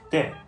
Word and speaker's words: 茶: In Teochew, the term for tea is similarly pronounced de.